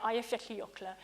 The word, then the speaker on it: Eyjafjallajökull: the volcanic eruption of ifs ocular and I've been told I've got to try and at least get you to pronounce it but is it is as I understand it I have 50 ocular and it erupted in